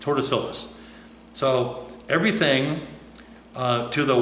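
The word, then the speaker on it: Tordesillas: because of the treaty of Tortoisilus. I'm mispronouncing it. It's Tortoisilus.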